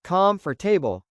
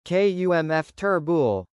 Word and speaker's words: comfortable: At first, I hated how I sounded, but slowly I began to notice my mistakes, like pronouncing comfortable as calm for table instead of kumf turbul.